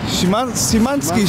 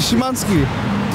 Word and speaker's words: Szymański: Szaleni tureccy kibice, także sprawdzamy, jak bardzo popularni są tutaj Sebastian Szymański i Krzysztof Piątek.